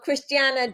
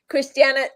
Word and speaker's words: Cristiana: you go and now Cristiana do you have and do you mind is that how I say your name yes yeah you said it right okay Christiana do you have a